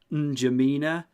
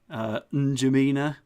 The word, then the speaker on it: N'Djamena: That is N'Djamena. That's obviously not how you pronounce it, but it's like, what N'Djamena? N'Djamena.